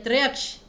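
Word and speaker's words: त्र्यक्ष: त्रयक्ष, अब यहाँ पर आपको उच्चारण पे ध्यान देना है। त्रयक्ष, य पर फोकस है, और जहाँ पर भी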